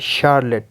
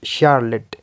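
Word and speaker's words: Charlotte: निकलेगा केमिस्ट्री क chemistry second में जो है श जैसा निकलेगा फॉर एग्जांपल शार्ले शार्ले थर्ड में च जैसा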